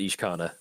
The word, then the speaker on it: Ishkanah: I'm rocking Ishkanah. Is that how Ishkanah? Ishkanah? I pronounce it Ishkanah.